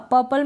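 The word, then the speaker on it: purple: पर्पल क्या पढ़ेंगे पर्पल अब पर्पल में क्या होता है की आर साइलेंट ही रहता है तो थोड़ा करेक्ट इसका प्रनंसीएशन ऐसे ही होता है पर्पल आप पढ़ देंगे पर्पल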